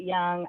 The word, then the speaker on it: Jung: it was um Carl Jung some people pronounced it young I don't know I pronounce it Carl Jung um but he was